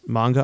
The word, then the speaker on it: manga: dang yeah uh also there was a famous manga artist named hitoshi arz and he designed 10 species for Pokémon X and Y it's a fun little fact for all our uh manga or Manga is it manga or Manga manga I think it's manga I